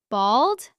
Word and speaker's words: bald: Bald with an A sound. Bold with an O sound.